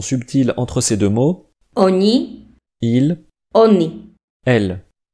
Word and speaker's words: oni: Oni. Il. Oni. Elle. Le N du premier est mou.